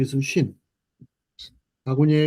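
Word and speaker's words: שׁ: 자 , 신 (Shin) 은 쉬 ( SH) 발음 입니다 .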